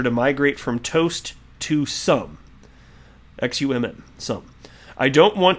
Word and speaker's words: Xumm: And by the way, before reading this, for those of you unaware, he has created Sum, it's spelled XUMM, which can be a replacement for this.